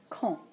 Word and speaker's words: quand: Quand. Quand. Note that QU in French is always pronounced ka and this D is silent.